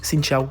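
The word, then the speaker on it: Xin chào: Et si vous voyez Milan aussi fier de lui, c'est parce qu'il vient de dire son premier bonjour en vietnamien, qu'on prononce Xin Chao.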